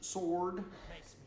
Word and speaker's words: sword: EXA I know a sword sword do you pronounce sword any different than you would if there was no W in there like if there was a word that was s o sorted sorted Affairs but